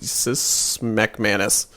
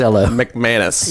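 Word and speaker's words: MacManus: uh declan his name is declan patrick eloise smekmanis i would totally i would totally change my name mcmanus yeah now he that was a really good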